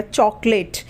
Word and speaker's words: chocolate: तो सी के आगे एच है तो उसका उच्चारण च हो गया, चॉकलेट, CHOCOLATE, चॉकलेट। तो सी के आगे एच है तो उसका उच्चारण च हुआ, ठीक है।